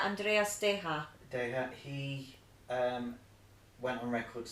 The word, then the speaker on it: Andreas Deja: Is it Andreas Diaz? Yeah, Andreas Deja.